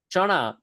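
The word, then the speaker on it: ચણા: You'll notice the N in Chana in case you can't read the Gujarati script. The letter N in Chana is a bit of a funny N. We're going to flip our tongue upside down and flick it really hard in our mouth. Sounds like ra ra ra like you're strumming like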